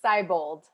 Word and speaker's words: Seibold: Am I pronouncing that right? It's Seibold.